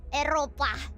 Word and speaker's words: Eropa: Eropa.